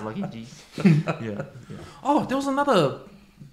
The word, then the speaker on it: Lucky Gs: GGG. Yeah. You don't say it like that, eh? Someone took Lucky G's. Nah. But you get it right because there's multiple G's, so it's Lucky G's.